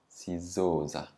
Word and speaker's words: sizoza: Now the stress is on the zo because za is only one syllable. Sizoza.